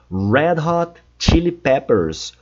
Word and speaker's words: Red Hot Chili Peppers: E por último, o nome da banda Red Hot Chili Peppers. Red Hot Chili Peppers. Cuidado com a pronúncia do R, é sempre red. Red é sempre o som de R.